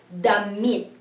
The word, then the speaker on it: damit: So da and mit is damit. So it's a hard vowel sound here for the I because it's E. So it's damit.